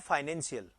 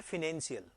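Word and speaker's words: financial: इस वर्ड की, तो इस वर्ड का जो प्रोनाउंसिएशन है वो अमेरिकन में अलग होता है, ब्रिटिश में अलग होता है। तो ब्रिटिश में तो क्या होता है, फाइनेंशियल, जो अपन यूज करते हैं। ठीक है जी। और अमेरिकन में होता है फिनेंशियल। अमेरिकन में क्या होता है, फिनेंशियल। और ब्रिटिश में क्या होगा, फाइनेंशियल। तो थोड़ा सा प्रोनाउंसिएशन इसमें डिफरेंट होता है अपने।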